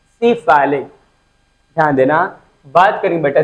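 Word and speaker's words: cephalic: will use medical terminology, this time you have to speak actual pronunciation। सिफाइलिक, ध्यान देना, बात करेंगे बेटा सिफाइलिक वेन की।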